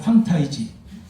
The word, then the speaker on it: 홍타이지: 대전부 황타이지, 왕은 홍타이지라고 하는데 저는 황타이지로 이렇게 발음을 하고 싶어요.